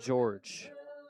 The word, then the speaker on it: Jorge: It's spelled like Jorge, J O R G E, but according to the Sussex County roster, it is pronounced George.